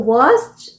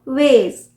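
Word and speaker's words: vase: सो वास जो है वो है ब्रिटिश प्रोनाउंसिएशन, और अमेरिकन प्रोनाउंसिएशन होगा, US प्रोनाउंसिएशन होगा वेज, वेज।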